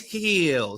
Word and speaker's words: Gil: as the pirate so it will forever be Gil for me even though it is Hill Luis Hill so that's on me